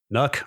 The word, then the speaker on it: NUC: Are we a NUC or a nuke podcast? I think we're a NUC is the official pronunciation, as I understand it. NUC is where I like to land on that one.